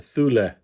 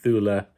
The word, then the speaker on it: Thule: uh large container there the Thule I think is how it's pronounced I'm not sure it's Swedish so I'm saying Thula uh maybe it's I'm sure in America we just call it a fool um but um